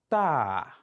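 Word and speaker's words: ت: When you study the position of your tongue while producing this sound, you will observe that the tip of your tongue is somehow touching the upper part of the upper teeth.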